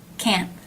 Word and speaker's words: can: you've probably noticed that this word often reduces the a as an bat vowel is changed to the schah can I can do